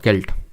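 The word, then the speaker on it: celt: में नवपाषाण काल में व्हाट इज अ सेल्ट और केल्ट तो एक्चुअल में सेल्ट इसको प्रोनाउंस करेंगे तो ये एक तरह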